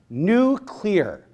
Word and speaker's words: nuclear: which is that it's like I I also mispronounce other words but I apologize it is nuclear nuclei are right but I I get excited